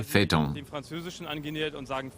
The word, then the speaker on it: Phaeton: But it's also used in French, where it's pronounced Phaeton, and we've used the French pronunciation, so we say Phaeton.